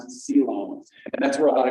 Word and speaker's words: coelom: That word is pronounced coelom, and that's where a lot of your organs actually are.